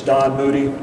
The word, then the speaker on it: Moody: People always have a little trouble with that pronunciation, but it's Don Moody.